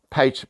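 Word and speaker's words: pater: a mistake i mean peter peter or and how you pronounce it uh latin word for father um you know implying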